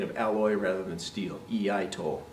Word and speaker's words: iaito: Iaito, pronounced again the same way as iaido, iaito, right?